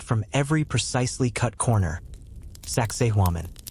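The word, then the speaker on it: Sacsayhuamán: Saxi. Try pronouncing that out loud. It sounds a bit like sexy woman.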